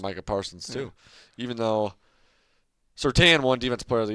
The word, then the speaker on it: Surtain: Yeah, it's Surtain. Come on! I used to call his dad Surtain, but I guess that's not the right way to say it.